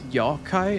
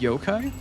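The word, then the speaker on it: yokai: the fact that they require or they say all of the yo-kai in the same way that the British say yogurt instead of yogurt. It's yawai instead of yo-kai in the same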